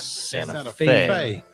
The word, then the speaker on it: Santa Fe: KDAT 7 News out of Santa Fe, New Mexico, not Santa Fe. F-A-Y. Yeah. It's pronounced Fe.